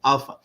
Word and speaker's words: Alfa: just pron it's just you can just pronounce the same way alpha but how you how you spell it is alfa when I came to